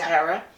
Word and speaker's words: Hera: So stepmothers do predate uh in some tales like the ancient Greek like uh Hera in is it Hera is pronounced Hera.